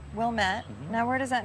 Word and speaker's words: Wilmette: Craig's home, which originally housed the landscape business, is on a busy street in Wilmette, Illinois.